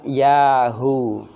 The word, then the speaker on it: Yahu: Kalau hari ke-40 setelah terjadi ya, maka usah lupa kita mengucapkan Yahu. Yahuwa. Yahu. Tulisannya bacanya Yahu. Tulisannya Yahuwa.